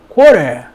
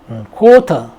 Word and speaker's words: quarter: 영국에서는 이제 R 발음이 없어지면서 T를 강하게 발음을 합니다.